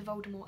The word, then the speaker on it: Voldemort: child they refer to Voldemort as well d'amour they pronounced it without the team which is how Joe intended it to be read initially because the team was silent but I actually really